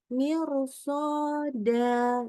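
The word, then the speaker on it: مرصادا: Dibacanya bukan mir, tapi mir. Kenapa? Karena dilanjutkan dengan huruf sod. Sodnya fathah. Jadi bacanya mirsoda.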